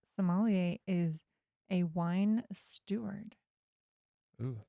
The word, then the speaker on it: sommelier: about that word is you never know how french to pronounce things right you're like they're like it's just soon from so it's not like somalia it's somalia and you have to say it like all smooth like this that's how i'm going